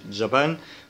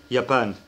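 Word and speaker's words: Japan: حرف اليوت اللي هو جي بالانجليزي بس بيتنطق زي اليه كده بالعربي، والكلام ده في معظم اللغات اللاتينية، حتى في العربي احنا بنقول يابان ما بنقولش جابان، ما بنقولش جاسمين بنقول ياسمين. الالماني نفس الكلام بنقول يابان ما بنقولش جابان، يعني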